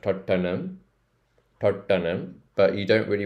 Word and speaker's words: Tottenham: the ham um but it's not Tottenham it's Tottenham Tottenham so Totten Toten um Totum um so it's like an um sound at the end there so Totum Totum in the Indian accent